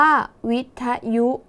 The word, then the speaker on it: วิทยุ: คะ วิทยุ อ่าน ว่า วิทยุ นัก เรียน สังเกต คำ แรก ก่อน นะ คะ คำ ว่า with สะกด ด้วย ท ทหาร ออก เสียง พยัญชนะ ท้าย เหมือน ด เด็ก ใช่ ไหม คะ ดัง